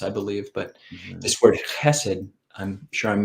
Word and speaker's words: chesed: And Ajahn Kovilo, your pronunciation of chesed was literally perfect. You got the consonant.